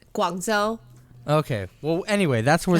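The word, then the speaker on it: Guangzhou: at some festival in guangzhao like um what i just love the way you print did i say it wrong how do you say it guanzo okay well anyway that's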